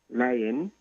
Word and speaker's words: Leyen: There's also an European commissioner by the name of Ursula von der Leyen. Leyen, it's Leyen, which can pronounce liar, but she's German.